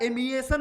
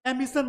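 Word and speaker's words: emission: सही है light amplification stimulation of radiation बच्चा एमएन होता है एमिशन बोलते हैं इसको सही स्पेलिंग कर लीजिएगा बच्चा एमिशन होता है ए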